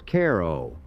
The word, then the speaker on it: Cairo: Comstock died before his vision materialized, but the name stuck, pronounced not like the Egyptian city, but as Cairo, a local distinction that has persisted for two centuries.